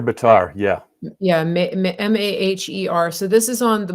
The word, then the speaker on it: Maher: How do you pronounce it? Mayor Bitar, yeah. Yeah, Maher.